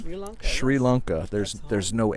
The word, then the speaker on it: Sri Lanka: pronounce it back home there's no h in the English spelling but it is Sri Lanka okay well I will